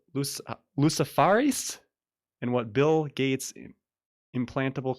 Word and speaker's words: luciferase: It's spelled Luciferase. Yeah, luciferase. Yeah, Lucifer with ASE on the end.